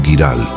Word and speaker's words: Giral: La hospedería de El Cebrero estaba dedicada a San Geraldo de Aurillac, un santo francés cuyo nombre se pronunciaba en occitano como Giral.